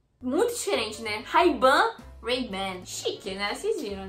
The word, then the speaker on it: Ray-Ban: Bom, eles pronunciam a Ray-Ban desta forma assim, ó. Ray-Ban, Ray-Ban, Ray-Ban. muito diferente, né? Ray-Ban, Ray-Ban.